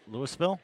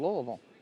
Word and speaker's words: Louisville: You mean Louisville? No, I do not mean Louisville. I mean Louisville. Yeah, you have to say it like you have a mouthful of marbles.